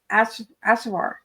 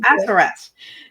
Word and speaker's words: Assaraf: What an energizing, and insightful tea time this has been with Kate at Assaraf. Am I saying it right? No, Assaraf.